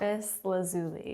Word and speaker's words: lapis lazuli: to pronounce it right because apparently we've been pronouncing it wrong for years and now I can't remember the correct lais lazuli yes lais lazuli so it's a beautiful blue